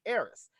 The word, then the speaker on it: Aris: your name she said I said my name like Eris and I was like